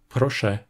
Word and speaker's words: proszę: C'est pareil si la voyelle nasale se trouve en fin de mot, même si, dans ce cas, la voyelle "ę" a tendance à perdre sa nasalité et à être prononcée simplement [ɛ]. On le voit dans des mots comme "proszę", qui est un verbe